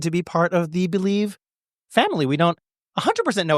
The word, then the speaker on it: Bleav: Believe, spelled BLEAV, pronounced Believe.